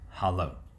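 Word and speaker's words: hallo: the most widely spoken hello in Norwegian is pronounced Halo Kent also visited the kingdom of Sweden after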